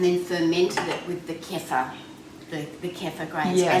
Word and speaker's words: kefir: yeah google just doms kefir kpf some people some people pronounce it keeper yeah okay kefir i've never met yeah